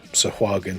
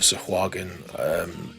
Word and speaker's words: Sahuagin: Some people say Haugen, Sahu, it sounds like John Fashanu who had gladiators. Sahuagin, or Sahaugen, or Swagen, you know, I think it's Sahuagin.